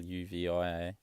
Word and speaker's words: lluvia: Whereas then you have like lluvia, like double L, rain, Lluvia, is more like lluvia, just because there's a second L, so it's sort of hard to always get confused between the two of them.